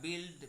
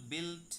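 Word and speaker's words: built: হচ্ছে break broke broken এরপরে আসছে নির্মাণ করা বিলড বিল বিল কেউ ভুল করে যেন উচ্চারণ বিল বুলড বুলড এরকম করবেন না বিলবিল বিল্ট বিল্ট আর নিক্ষেপ করা বাদ ছুড়ে দেয়া এটাকে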